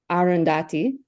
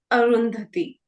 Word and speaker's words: Arundhati: sound o sound so before I went through this workshop with you I would have said arundati but now I'm GNA sayti very close uh but both the a Sounds here are the inherent uh sounds so it's arundhati arundhati and Roy AR okay all